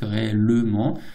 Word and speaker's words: réellement: c'est sa prononciation classique réellement. Et ben souvent à l'oral on peut prononcer réellement. D'accord ? Ne prononce pas le e.